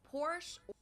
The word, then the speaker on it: Porsche: one it's located in Germany I've heard Americans pronounce it Porsche Porsche or Porsche in German or she push